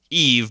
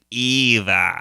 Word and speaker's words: Eve: and then her name is Eve, but he keeps saying Eva. Yeah, he can't say it right, which is so cute.